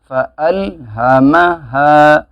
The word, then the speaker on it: فَأَلْهَمَهَا: ہا زبر ہا یہ ہا ہے، فَأَلْهَ فَأَلْهَ میم زبر م فَأَلْهَمَ ہا الف زبر ہا فَأَلْهَمَهَا فَأَلْهَمَهَا فُجُورَهَا فُجُورَهَا وَتَقْوَاهَا وَتَقْوَاهَا واو کو کھینچیں